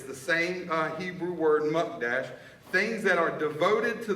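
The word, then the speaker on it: mukdash: in Hebrew ish m-u-k-d-a-s-h I'm pronouncing it wrong just so you all know it's muck Dash that word devoted and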